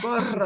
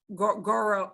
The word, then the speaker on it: gorro: Oh, there's a strong R. Gorro. Oh my gosh. Ay, Dios mío. Okay, gorro. If you can only say gorro, goro. Okay, I'm trying to do goro. If you can only get out goro, don't worry about it. Goro. Gorro, gorro. Gorro. Yeah, that's a strong trill.